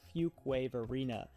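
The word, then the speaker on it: Fuquay-Varina: suburb that we're going to cover is called fuk wave Arena and this may be the first time you've ever heard it pronounced correctly especially if you don't currently live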